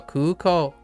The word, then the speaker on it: 空港: So kuko, I think it's kuko. Instead of, I keep saying kuko. So every time I pronounce it, it was like kuko. But it's kuko, right? 空港 Oh, kuko.